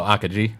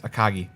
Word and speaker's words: Akagi: Oh, Akaji. It's Akagi. Oh, is it? Yes. So you've been pronouncing it wrong?